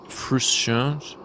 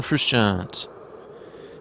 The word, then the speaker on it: Frusciante: of my favorite artists his name is John Khrushchev John Frusciante I don't like pronouncing his name he's the guitarist from the